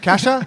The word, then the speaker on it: Keesja: Kasha? Kasha. Kasha. Fuck. I But have it's to spelled with 2 I have to E's.